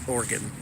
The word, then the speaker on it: Oregon: I'm in New Orleans I'm in Oregon or as they pronounce it organ it's got a big OE in it Oregon it rained two days